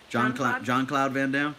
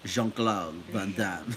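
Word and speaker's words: Jean-Claude Van Damme: John Cloud Van Damme? It's Jean Jean. Jean Cloud Van Damme. You have to say it right. He's French.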